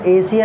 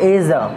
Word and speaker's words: Asia: हाँ, लेकिन इसका इंग्लिश प्रोनाउंसिएशन एशिया नहीं होता, इसको पढ़ते हैं एजा।